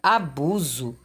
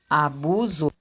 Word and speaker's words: abuso: busco podemos deduzir que a palavra abuso e ela se escreve com s mas tenho mesmo som da letra z e quando a palavra